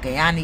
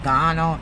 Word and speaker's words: Guyana: your facts right about Guyana. You know, you're pronouncing Guyana's Ghana. Like, you know what? Get it right.